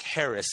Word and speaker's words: Haracz: All you got to do is look up my name, and it's Haracz, and it's spelled just like it sounds. Haracz.